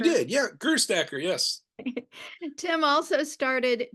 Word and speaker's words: Gerstacker: Did I pronounce that right, Tim? You Gerstacker? did, yeah, Gerstacker, yes.